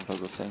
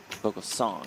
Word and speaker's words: Vogelsang: Tom Vogelsang in the small blind. Vogelsong, I should say, as he pronounced his name for us late yesterday.